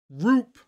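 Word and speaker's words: Rupe: say his name Ryan Roop there we go pronunciation Roop Ryan Roop but Chris Carpenter pitching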